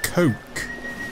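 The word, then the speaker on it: koch: similar to the real-life ship known as the Coke yes coke that is how it's actually pronounced any ideas you dirty little ferret the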